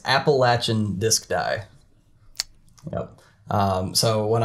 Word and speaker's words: Appalachian: And we have Josh from Appalachian Disc Dye. Welcome, Josh. Hi, Dave. How's it going? It's going. So I said your name wrong. How do you properly say it? So it's Appalachian Disc Dye.